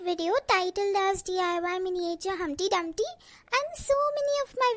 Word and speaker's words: Humpty Dumpty: can't even pronounce my humpty dumpty's name tweezer he is humpty dumpty not dumpty dumpty i know i know